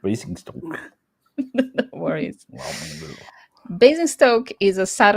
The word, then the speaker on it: Basingstoke: Basingstoke Basingstoke. is Oh, sorry, I pronounced incorrect. Basingstoke.